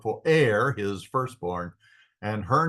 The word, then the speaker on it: Er: son and called his name uh it's actually pronounced a like with a long a sound so his name was called air she conceived again and bore a son and